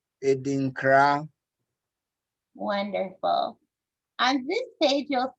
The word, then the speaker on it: Adinkra: And please, I kind of helped out already, but could you help us with the pronunciation of this, Dad? Edinkra. Edinkra. Edinkra.